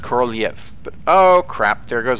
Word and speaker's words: Korolev: Actually, I believe it's supposed to be pronounced Korolev, but oh crap, there goes an engine.